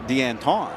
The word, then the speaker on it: Danton: A lot of people are saying Deanton, which he told us, yeah, that's actually not wrong.